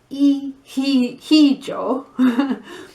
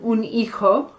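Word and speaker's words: hijo: such a strange word it's spelt h i j o ace it's not he he joe okay so these are your your sons and daughters los you can have iko which is a son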